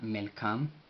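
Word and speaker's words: መልካም: Entonces sería Melkam, M-E-M-L, la cual no lleva pronunciación en el vocal, Mel, K, A, Melka, Melka, y finaliza con una M, la cual tampoco va acompañada por vocal, y esto significa feliz, buen, Melkam, Melkam.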